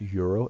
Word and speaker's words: gyro: and they're like, oh, it's pronounced euro. It's like, well, then why are they gyrating it in the commercial? Anyway, the Greek gyro, oh, it was good.